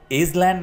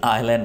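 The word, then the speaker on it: island: जजीरे को आइसलैंड नहीं आइलैंड बोलेंगे, ठीक है, आइलैंड, या आइसलैंड भी नहीं बोलना, आप इसको बोलेंगे आइलैंड। यहां पर एस को बिल्कुल खत्म कर दीजिए, प्रोनाउंस करते हुए, लिखते हुए नहीं, आइलैंड।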